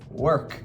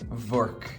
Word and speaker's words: work: So remember that the word work is work. There's no V. I've had students who are Persian and they've been always saying vork. It's not verk, it's work.